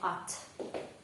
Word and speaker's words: ought: як і дієслово щоб давайте подивимося як вимовляється ось це дієслово ац американський варіант і британський в одному слові H5 букв але звуки тільки 2 І ще що означають